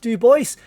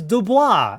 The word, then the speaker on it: Dubois: Now, I've had people comment on my channel before to say it's not Duboce, it's Dubois. It's a French name. Now I know that the name is pronounced dubois in French.